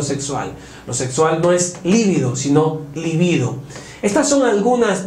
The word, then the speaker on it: libido: atracción ese deseo sexual la libido es incorrecto es libido la libido sexual libido